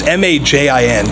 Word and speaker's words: Majin: I'm not sure how to pronounce it. It's Majin. So Majin, Yeah.